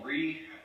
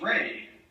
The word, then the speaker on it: Reeh: game um uh however my last name is ray a lot of people mispronounce it because it's r-e-e-h so i uh one time i was in college and uh the professor said uh reed and i said no it's ray you know like romano